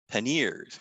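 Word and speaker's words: panniers: can have side bags aka paneers which is like pronounced pan and ears these attach to a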